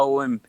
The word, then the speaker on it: Om: Even the Christians have the same syllables of A, O, M. The Om is basically A, U, and Im, three syllables.